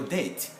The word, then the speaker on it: debt: money that's i have your debt but we write the b we don't pronounce it it's one of the